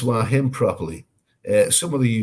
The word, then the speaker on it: Hua Hin: okay yeah whatever bill colley at least you pronounce why him properly uh some of the youtubers let's just